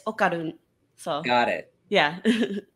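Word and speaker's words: Okarun: like is pronounced where we pronounce our D's like so right behind your teeth at the roof of your mouth and but instead of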